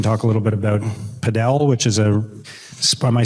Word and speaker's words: padel: We can talk a little bit about padel, which is am I saying it right? Padel?